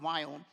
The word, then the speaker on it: Viome: So I started a company called Viome. That's V as in Victor, I-O-M-E. Now, you're wondering why did I spell it out? Indians cannot pronounce the word we.